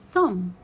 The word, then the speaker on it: thumb: When it comes after letter M, I will not read letter B. It will be a silent letter.